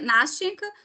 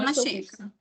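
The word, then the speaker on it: Настенька: Mas já tem gente que pronuncia Nastyenka, tem gente que pronuncia Nastionka. Tipo, então a pronúncia também vocês vão encontrar de tudo que é tipo de jeito aí pela vida fora. Mas a gente vai chamar Nastyenka. Enfim.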